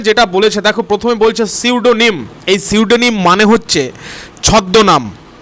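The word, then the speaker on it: pseudonym: প্রথমে যেটা বলেছে, দেখো প্রথমে বলছে সিউডোনিম। এই সিউডোনিম মানে হচ্ছে ছদ্মনাম, ঠিক আছে, গোপন নাম, সিউডোনিম। তারপরে যেটা দেখতে পাচ্ছ এখানে কিন্তু পি এর উচ্চারণ হয় না, এটা হচ্ছে সিউডোনিম, ঠিক আছে।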